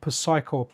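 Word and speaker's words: Psikyo: It's a combination between Capcom and I think it's called like Psycho, Psycho. Pretty sure the P is silent, and it's like a run and gun shmuppy bird's eye view commando style of thing.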